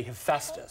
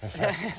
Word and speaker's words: Hephaestus: I had to look up how to pronounce it. It's a very difficult thing, but I'm trained by Megan to say Hephaestus. Hephaestus.